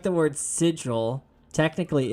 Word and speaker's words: sigil: I've never heard anyone say sigle, though. Huh? What do you guys say? What do you guys got to say about that steampunk monk? Sigil, how do you say that one?